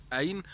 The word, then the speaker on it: ع: At the beginning you will pronounce it Ain, but you need to move the pronunciation further toward the deep of the throat in order to pronounce it right.